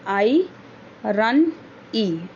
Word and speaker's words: irony: आयरनी pronounced as, हम उसको कैसे प्रोनाउंस करते हैं? आई रन ई, आयरनी is when there are